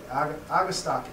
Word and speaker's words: Agastache: of different ways, but Latin should always be pronounced with a hard C when you see a CH in the Latin name, and E is always pronounced sort of like an A, Agastache.